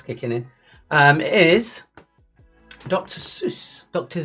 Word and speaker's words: Seuss: that's the shots kicking in um is Dr Seuss Dr Zeiss that's how you should pronounce it says the person who calls Esprit e spirit I was 11.